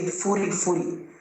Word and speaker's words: Furi Furi: So Furi is actually fully, like full. And then I decided to pronounce it in our own local accent. So I said Furi Furi.